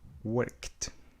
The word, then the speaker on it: worked: A pronúncia é kt, worked.